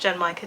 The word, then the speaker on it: genmaicha: My favourite tea is genmaicha tea, which I've now learned is pronounced genmaicha tea, and this is not genmaicha tea, but it sounds like it's going to be quite close.